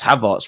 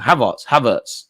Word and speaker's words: Havertz: I pronounce Havertz wrong. Havertz.